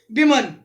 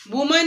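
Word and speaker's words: women: से ए group of विमन, वुमेन नहीं बोलना है, this is the correct pronunciation of विमन।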